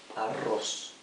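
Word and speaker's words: arroz: different right say and aing so let's begin Aros Aros means rice as I've written here in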